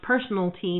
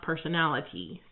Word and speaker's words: personalty: And it is pronounced personalty, not personality.